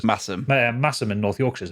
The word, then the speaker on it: Masham: And is it Massam or Masham? I can't remember how you pronounce it. Massam.